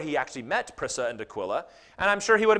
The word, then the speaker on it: Aquila: check this out greet prissa and aquila would have been pronounced aquila my fellow workers in